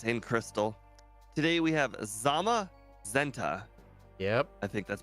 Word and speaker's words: Zamazenta: running backport Series in Crystal today we have Zama zenta yep I think that's pronounced that is correct yeah this was a